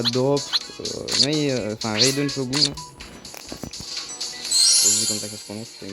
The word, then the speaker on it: Raiden Shogun: Et j'ai réussi à drop Raiden Shogun. C'est comme ça que ça se prononce.